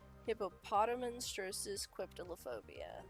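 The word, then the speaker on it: hippopotomonstrosesquippedaliophobia: Hippopotamonstrosis quiptilophobia.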